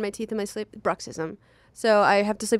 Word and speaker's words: bruxism: mouth what's it called bruxism it's where you grind your teeth spell it b r u x i s am maybe adjacent to Marxism yes it's communism for